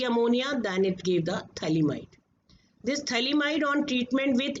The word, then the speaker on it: phthalimide: Here we call it as phthalimide. P is silent in the pronunciation.